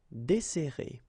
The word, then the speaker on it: desserrer: and we'll get this desserrer, desserrer. Okay, so we've got this double S, so it will open the sound of the here. That's the reason why I pronounce it like E.